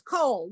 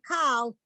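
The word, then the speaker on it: כל: That's the K sound and then the L sound at the end, but it's the coal. vowel. Oh, It's coal, yes. You are tempted to say kal, and that's wrong. It's coal.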